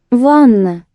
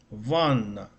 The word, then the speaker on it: Ванна: So it's like you separate the syllables. Vanna. Is that better? Tap. Vanna. Ванна. Еще раз. Ванна. Vanna. So there seems to be a deliberate effort to pronounce the syllables separately.